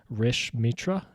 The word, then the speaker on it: Rish Mitra: and today I'm joined by uh special guest Rish Mitra am I pronouncing that correctly yep Rich me awesome um